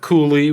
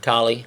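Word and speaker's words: Colley: And Dana Cooley, we want to give you a shout out too. That's his name, right? Collie.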